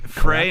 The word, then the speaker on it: Frey: I think it would be a fair pronunciation to say Frey. Yeah. It's just from this part of the country they say Fry.